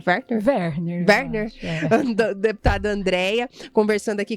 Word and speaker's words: Werner: deputada estadual por São Paulo, Andréia, Werner, a pronúncia, Adra, tá certo? É Werner?